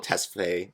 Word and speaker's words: Tesfaye: Abel Tesfaye, how he pronounces his last name.